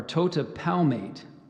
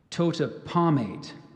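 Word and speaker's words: totipalmate: as webbing facilitates swimming so I gave you the pronunciation Tota palmate there's one alternate Tota pomade total palmate t-o-t e p a l m a t e Kota palmate is spelled t-o-t-i-p-a-l-m-a-t e this word has a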